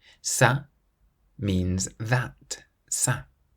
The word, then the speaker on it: ça: Whenever you see the letter C with a cedilla, that little squiggle underneath it, you always pronounce it like an S, so a S sound. For example, ça. Ça means that.